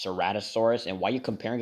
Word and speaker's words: Ceratosaurus: made it very similar in aspect to the Ceratosaurus. First of all, it's pronounced Ceratosaurus, and why are you comparing him to Spinosaurus?